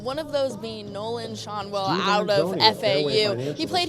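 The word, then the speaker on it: Schanuel: has always said that our last name is pronounced Shanwell. It is actually Shonwell.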